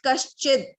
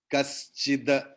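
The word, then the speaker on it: कश्चिद्: Half the we pronounce like that. Kaschida. Not sharply we pronounce kaschid.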